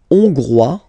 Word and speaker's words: hongrois: La Hongrie, hongrois, hongroise. OK? Hongrois, grois, hongroise. OK? So here, final S not pronounced for the masculine form. And then you pronounce it here for the feminine form.